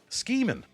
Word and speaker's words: Schemin': Schemin. Schemin. It's meant to rhyme with rhymes with dreamin.